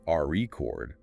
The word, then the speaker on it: record: If you stress the first syllable RE chord, it's a noun, like a vinyl record. But if you shift the stress to the second syllable re chord, it becomes a verb, the act of recording something.